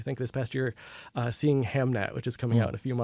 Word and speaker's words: Hamnet: I think it's pronounced Hamlet. This one is Hamnet. Hamnet.